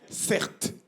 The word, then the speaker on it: Certe: mon nom de famille cert mon prénom c'est CER ça s'écrit c e r T e mon prénom c'est un